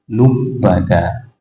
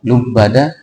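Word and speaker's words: لُبَّدًا: yaitu qiraah Abu Jafar dibacanya bukan lubada akan tetapi dibacanya itu ada lubbada nanti Bapak Ibu kalau seandainya mendengarkan Imam membacakan lubbada jangan dikoreksi n karena apa karena boleh bacaan lubbada ya karena ada sebagian orang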